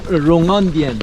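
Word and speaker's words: 隆恩殿: 중국 발음으로 뭡니까?롱 롱원디엔. 롱원디엔. 예.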